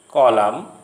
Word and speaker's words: column: If a word ends in MN, the N is not pronounced as in these familiar words coming to your screen. Autumn, column, dam, condemn.